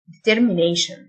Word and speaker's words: determination: تصميم أو عزيمة determination، T-I-O-N تنطق شن، determination.